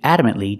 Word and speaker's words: adamant: The T in adamant is a stop T. Adamantly. You put the tongue up, but you don't release. And it's not silent. I cannot say adamantly. It's adamant. Adamantly.